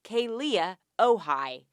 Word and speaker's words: Kealia Ohai: Number 1, her name is pronounced Kealia Ohai.